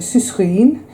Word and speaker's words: sucrine: I've been saying sucrine for about 4 years, but it's actually sucrine, as you would pronounce it, sucre, as in sugar.